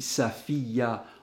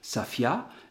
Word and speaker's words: Safiya: S'ils ont l'habitude d'appeler leur fille Safiya en 3 syllabes, eh bien, c'est 3 syllabes. S'ils ont l'habitude de l'appeler simplement Safia, eh bien, ça sera 2 syllabes.